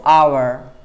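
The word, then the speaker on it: hour: एच ओ यू आर इसमें H mute है। एच is mute और इसका कोई साउंड नहीं है। लेकिन आपको बोलना है इसको आवर आवर एन आवर टू आवर्स टू आवर्स टू आवर्स। Right? ऐसे प्रोनाउंस करते हैं।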